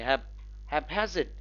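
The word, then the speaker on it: haphazard: हैप्पैजिड, हैप्पैजिड, stress lies on the second syllable.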